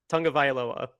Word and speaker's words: Tagovailoa: Tagovailoa? Is that how you say it? Tagovailoa. Okay. There you go.